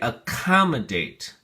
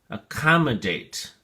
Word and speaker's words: accommodate: has four syllables and the emphasis or stress is on the second syllable so we say accommodate accommodate a commodate accommodate we